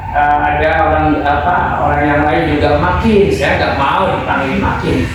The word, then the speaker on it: Makhin: Anu Neng, saya namanya Makin. Kan tulisan, ya tulisan kan MAKHIN, tapi dibacanya nggak begitu.